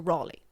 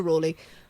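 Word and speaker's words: Raleigh: Marlo were in there Sir Walter Raley Ry Ry I think it's pronounced actually Sir Walter Ry was in this group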